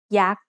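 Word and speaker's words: ยักษ์: Maybe you've seen statues of yak at a Thai temple. Yak is high tone because it has a low-class consonant and a dead syllable with a short vowel.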